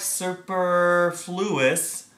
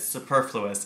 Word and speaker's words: superfluous: for chapter 5 is superfluous it looks like superfluous but you pronounce it superfluous and it means an overabundance just too much